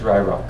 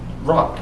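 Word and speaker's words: Yroc: And the name is Rye Rock, correct? Yes. It's actually, the Y is silent. It's just rock.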